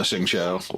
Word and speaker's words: Xingqiu: Oh, Xingqiu. Wow, that did not look like that. That's how that's supposed to be pronounced.